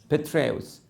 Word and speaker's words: Petraeus: I've never been able to pronounce this name properly. Petraeus.